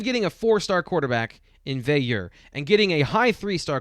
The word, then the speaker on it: Veilleux: And I believe you said the proper way to say it is Veilleux. Veilleux.